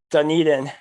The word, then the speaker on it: Dunedin: Dunedin.